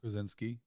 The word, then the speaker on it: Krasinski: Reed Richards, and it was The Office's John Krasinski. There you go. I was going to say it wrong, so you had to say it first. Well, I mean, it's Polish.